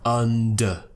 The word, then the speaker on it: under: Now please don't get the schwa confused with the sound at the beginning of this word. Under. So we have and we have For the sound, we're opening the mouth a little bit more and the tongue is curling slightly.